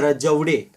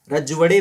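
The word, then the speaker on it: राजवाडे: The correct answer is D, that is वी के रजवड़े. रजवड़े मेरे ख्याल से बोलेंगे इसे, मराठी प्रोनाउंसिएशन है इसका भी रजवड़े, मेरे ख्याल से रजवड़े, वी के रजवड़े.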